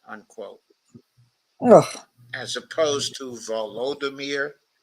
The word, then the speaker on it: Volodymyr: by calling him, quote, Vladimir, unquote, Ugh. as opposed to Volodymyr, which is the Ukrainian pronunciation of the same name.